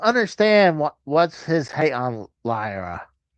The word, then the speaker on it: Lyra: I don't understand what's his hate on Lyra. Now you said it right. Did I say it? I try. It sounded like I said it wrong. First time you did, you said Laura.